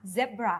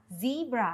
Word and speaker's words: zebra: อ ก เ สี ย ง ว่ า zebra ส่ ว น ค น อ เ ม ริ กั น จ ะ อ อ ก เ สี ย ง ว่ า zebra ค่ ะ แ ล ะ นี่ ก็ คื